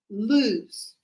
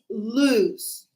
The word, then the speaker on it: lose: So it's like a double O like choose but there's no double O. So remember when we said choose chose it's kind of similar but no the pronunciation is lose.